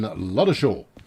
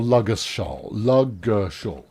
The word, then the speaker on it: Ludgershaw: So Steady Bob says it's 7 degrees and mostly clear in Luddershaw. Or Luggershaw. The D is silent.